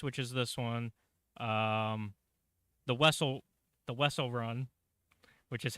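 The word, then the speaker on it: Wesell: is this one, the Wessel run, which is how I learned that the correct way to pronounce Zam Wessel's last name. Even though Bounty Hunter, the video game, not canon, says Wiesel.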